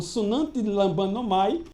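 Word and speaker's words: συναντιλαμβάνομαι: Foi sinantilambanomai. A palavra usada em grego, sinantilambanomai, né? E essa palavra grega pode ser dita como sunantilambanomai, ou seja, quando ele diz que também o Espírito nos ajuda, né?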